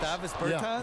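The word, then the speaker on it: Dāvis Bertāns: Oh, now at this point in my life, it's Davis Bertans. Is that how you say his name? Davis Bertans. Davis Bertans?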